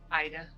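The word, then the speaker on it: Aide: There's to be restitution to, how do you pronounce this? Adi or Adi? Ida.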